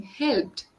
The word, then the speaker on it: helped: Helped. My friends helped me. My friends helped me. That help ed sound is focused a lot in your conversation.